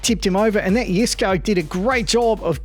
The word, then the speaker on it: Jesko: Isn't it Jesko? I mean, it's spelt with a J. Yes, it is spelt with a J, but it's pronounced Jesko, all right?